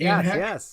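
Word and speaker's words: Anne Heche: Anne Hesh, is that how you pronounce it? Anne Hesh?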